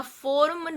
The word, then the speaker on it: forme: Here I am not pronouncing the E because the last E is not pronounced at the end of a French word.